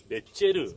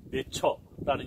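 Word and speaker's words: נצר: 히브리 말로 가지가 넷제르 이렇게 나타나요. 11장뿐만 아니라 61장에도 보면 가지라는 말, 즉 오실 메시아에 대한 심볼로 가지, 넷제르라고 말이 나왔다. 영어에서 오늘 네처라는 영어식 발음으로 많이 이야기하는 소위 넷제르라는 이름을 가진 사람이 많은데 그게 바로 나사렛 사람이다.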